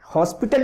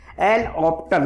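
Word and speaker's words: L'Hôpital: हॉस्पिटल इसको कुछ लोग पढ़ते थे, लेकिन एच साइलेंट होता है, इसलिए मैं इसको लिख भी नहीं रहा हूँ। एच एल ऑप्टल बोलना चाहिए केवल।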